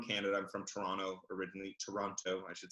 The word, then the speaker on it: Toronto: Toronto, I should say. And because people from Toronto pronounce it Toronto, T-R-A-N-N-O.